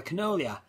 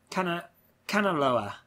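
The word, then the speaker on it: Kanaloa: army passenger on board the Canolia. Canaloa. I've been saying it wrong all this time.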